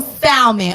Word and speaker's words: salmon: gotta eat you some salmon, okay? And I use the L because that's the way you supposed to pronounce it.